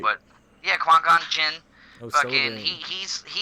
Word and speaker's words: Qui-Gon Jinn: He's Qui-Gon Jinn, right? Qui-Gon Jinn.